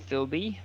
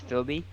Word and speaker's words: Philby: you, his name is Philby. Phil B, like B is the first letter of his last name, but he Got it. pronounces it all as one thing, and that's Philby. Okay.